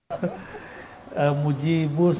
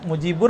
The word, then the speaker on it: Mujibus: Mujibus ya. Mujibur apa Mujibus? Mujibur. Oh, Mujibur. Kalau Mujibus sesuai bahasa Arab, kalau Mujibur kependekan tadi. Oh iya, karena Google, jadinya di Google. Oh gitu. Mujibus bacanya pas.